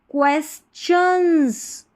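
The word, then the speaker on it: questions: अब इसमें मैंने बोला कि टी आई ओ ओ एन को शन पढ़ते हैं। लेकिन जब ये वाली स्पेलिंग पढ़ेंगे ना इसमें च पढ़ना है आपको।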